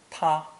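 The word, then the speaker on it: 他: u to third person pronounced first tone ta notice how the strokes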